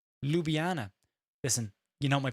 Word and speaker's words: Ljubljana: Pronounced Ljubljana.